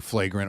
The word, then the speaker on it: Flagrant: that I listen to flagrant with Andrew Schultz fragrant how do you say it flagrant like like a flagrant foul oh yeah and what's